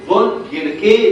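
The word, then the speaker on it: von Gierke: دكتور رشيد بينطقوا فون جيركي ديزيز. دكتور رشيد يعمل اللي هو عايزه في البايو، يقول اللي هو عايزه كل حاجه اللي هو عايزه. فون جيركي صح طبعا، لما هو بيقول لك كده يبقى صح، لكن معظم دكاتره الكليه بينطقوا فون جيرك، يبقى اسمه فون جيرك ديزيز او فون جيركي ديزيز زي ما استاذنا دكتور رشيد بينطقها، يبقى الاثنين صح.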